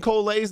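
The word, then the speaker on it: Collei: I've been saying Kolei's name wrong.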